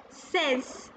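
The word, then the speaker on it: seize: Says.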